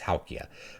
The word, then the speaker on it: Houkje: It's Houkje, but it's h o u k j, Houkje, right?